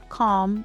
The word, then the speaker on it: calm: Silent L appears in words like walk, talk, calm, and half. There is no L sound here.